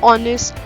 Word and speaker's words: honest: Example, an honest boy. Though the spelling is having H in the beginning, but H is silent and it is giving a vowel sound O, so that's why we have used an before it.